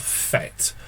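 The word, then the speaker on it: PhET: google search for a website called fet i think that's how people pronounce it p-h-e-t you'll find this website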